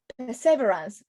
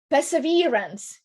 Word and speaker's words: perseverance: the landing or perceive perseverance probably put the accent in the wrong place i'm so sorry i think arab you pronounce it correctly you mentioned that yesterday perseverance yes there we go